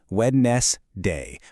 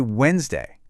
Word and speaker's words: Wednesday: The D and that second E, totally silent. They're just there. You just say Wednesday.